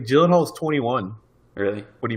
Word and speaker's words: Gyllenhaal: this is actually Jim Gyllenhaal's Gyllenhaal is one of my favorite actors and I've never seen this it's a soft G yeah it's a softy Jill Jill did Jill also I didn't know